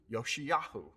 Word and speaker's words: Josiah: one of our sons in hebrew remember there is no j sound josiah is actually pronounced in hebrew yoshiyahu okay back to the